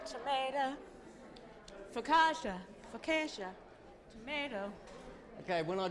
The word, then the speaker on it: focaccia: That's our homemade focaccia bread.